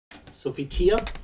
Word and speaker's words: Sophitia: How do you pronounce that? Sophitia?